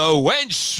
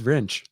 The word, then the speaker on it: wrench: Weaver, the wench wielder. Is that better? It's wrench. Wrench? Wrench. Wrench? Have I been pronouncing wrench wrong my whole life?